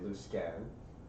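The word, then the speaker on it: Luskan: going to to left is it lusin or Lan I've heard it both ways it depends on which region you're from okay different people pronounce it different ways uh here in the north we say loose scan U I've heard people from the South and the East and say lmore neither way is wrong it's just a preference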